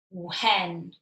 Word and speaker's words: when: So when we write the word when, the tricky part of the word is the WH. So W is pronounced just how you'd expect it. But this H is non-existent because when you put W and H together, the w sound is exactly how it should be.